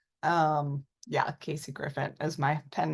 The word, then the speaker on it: Grifant: starting off everybody has like different ways of pronouncing it usually I go with Griffin um yeah Casey Griffin is my pen name Griffin yeah okay so